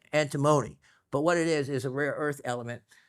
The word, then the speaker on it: antimony: Now, I know it's easy to pronounce it, and I want to say antimony, okay? Antimony, it's still, people would know what you're saying, and it's probably still pronounced by some people that way. Correct pronunciation is antimony, but what it is